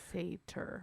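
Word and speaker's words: satyr: know what I mean that's seder s-a-t-y-r Fator that's how you pronounce that so anyway then he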